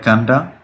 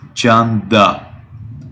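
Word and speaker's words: Canda: I think you read it like Kanda. Yeah. How do you spell it? C-A-N-D-A. C-A-N-D-A. Janda. And the perfect pronunciation is Janda.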